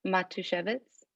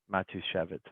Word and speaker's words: Matushevitz: could you help me out with your pronouncing your last name sure matushevitz matushevitz okay i didn't want to butcher it um